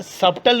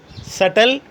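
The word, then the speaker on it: subtle: अगर टी से पहले बी आता है तो भी बी साइलेंट हो जाता है। डैट, डाउट, सटल, सब्टल नहीं, सटल, डैटर।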